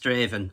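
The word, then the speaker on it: Strathaven: It's at a place called it's spelled Strath Haven, but I believe it's pronounced Straven.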